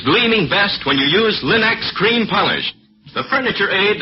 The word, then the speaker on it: Linex: Remember to ask for them by name, Linex. It's spelled L-I-N-X. Linex.